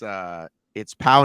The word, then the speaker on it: Pau: Yeah, it's Pau, like Pau Gasol. Anyway, so I asked everyone, including Angel, the guy who runs HYROX, Deca Spain, and they all gave me the same answer, and including Pau, who said, when I